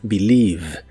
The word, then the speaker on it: believe: El verbo creer en el presente de inglés es believe. No se pronuncia ningún sonido E en esta palabra, solo dos sonidos I.